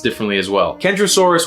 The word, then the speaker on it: Kentrosaurus: pronounced differently as well kendrosaurus with a hard k and centrosaurus with a